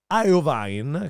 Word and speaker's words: Iovine: produzione è affidata a jimmy iron wine credo che si pronunci così il suo bizzarro nome che in italiano sarebbe iovine ma il disco è